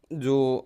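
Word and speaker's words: je: अब हम अपन चलते हैं फ्रेंच के जो प्रोनाउन होते हैं उस पे।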